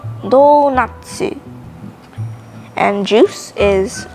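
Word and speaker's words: ドーナツ: right what else donut donut in japanglish is pronounced as donatsu and juice is jusu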